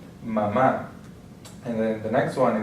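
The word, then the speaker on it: mamá: We have the accent, the written accent on the last syllable, so that's where we're going to stress mama.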